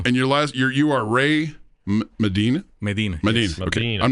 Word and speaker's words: Medina: Medina.